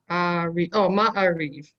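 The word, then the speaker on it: מעריב: Varo, Ma, my, your, reeve, So my, take it one syllable at a time. So it's not my. oh, What's the first syllable? Ma, The second syllable? Ya, No, it's ah. oh, Ma, Ma'ariv. Ma'ariv. Good.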